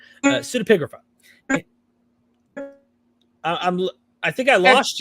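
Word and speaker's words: pseudepigrapha: cineprographica now sort of how do you pronounce this i always jack up the word pseudo pseudipigrapha see i always call it supacrafa uh pseudopigrapha i'm i think i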